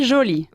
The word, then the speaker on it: jolie: La E del femenino nunca suena.